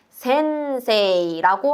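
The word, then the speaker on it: 先生: 한자로는 이렇게 생겼고 일본어 발음으로는 센세이라고 하게 되는데 여러분, 이때 세 뒤에 이라는 발음은 센세이, 장음으로 발음하는 우리 배웠던 장음의 규칙 기억해 주시고요.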